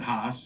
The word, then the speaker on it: Haas: And Tony Corner over in Germany, he said Haas, and he was worried he didn't say it right. And I said, the name's German. If you would have said it differently, I would have questioned it.